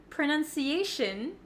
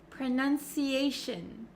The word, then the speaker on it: pronunciation: end in t-i-o-n right so a lot of students say they make that o sound but for pronunciation and any word almost that ends in t-i-o-n we actually pronounce it as shin shin so you can see my mouth is not opening like an o sound pronunciation pronunciation okay that